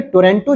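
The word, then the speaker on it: Otranto: जोड़ देती है वहीं स्ट्रेट ऑफ टोरंटो क्या करती है यहां पे ओ साइलेंट है ये आयोनियन सी को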